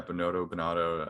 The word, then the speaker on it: Binotto: principal of Ferrari, Binotto, is that how you pronounce his name? Yeah, Binotto. I'm not sure because they always say it in the Italian.